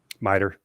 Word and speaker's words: MITRE: So the research I've been doing, there's a corporation called how would you pronounce this? MITRE? Yeah, MITRE.